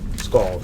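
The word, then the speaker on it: skald: course the scout right scald scal hey Max what is it I think it's scald okay scal we're actually saying it right it's shocking uh so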